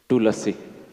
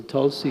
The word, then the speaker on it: Tulasi: full so only half so Tulsi is not correct I think so because not too lazy but too lazy yes when we pronounce Tulsi it Allah is half not fully so that's not correct yes okay I felt